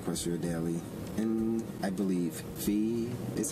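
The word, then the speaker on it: Phoe: did mention the question daily and I believe Fe is how you pronounce it p h o e one the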